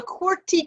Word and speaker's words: QWERTY: your cue um so it's called a corty keyboard which is spelled q w e r t y and those are